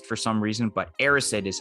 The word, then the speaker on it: Erised: out this week that i actually called it a rise for some reason but aristid is how it's actually pronounced and i'm gonna put this right in